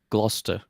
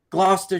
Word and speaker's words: Gloucester: do you say it Gloucester Gloucester gler Gloucester okay that's another quir of the English language in that sometimes we'll spell things and just not pronounce half of them well so the funny